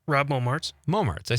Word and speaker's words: Momartz: Rob Momartz.